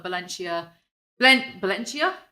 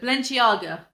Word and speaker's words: Balenciaga: of her and bully her she bought a valencia valencia what how'd you pronounce it balenciaga i'm sorry i don't speak rich she bought